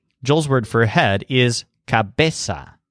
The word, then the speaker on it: cabeza: word for head is cabeza with a stress on base now the mirror above